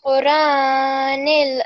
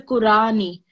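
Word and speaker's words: قرآنِ: You said bil Qurani. It sounded as if there was alif instead of as in on top. It's not Qurani, it's Qur'ani.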